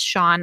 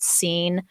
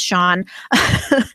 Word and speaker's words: Sean: down it's like how it took me forever to realize that sha sea an is pronounced Shan I thought it was just scen for the longest time and I was like why would somebody name their kid scene um but it's Sean um so I think